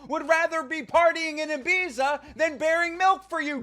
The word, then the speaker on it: Ibiza: It's almost like your cash cow would rather be partying in Ibiza than bearing milk for you, Dana. It's pronounced Ibiza.